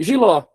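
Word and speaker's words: jiló: Giló tá em casa, viu que eu puxei o ló?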